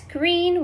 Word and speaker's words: Greene: That's Greene with a silent E at the end.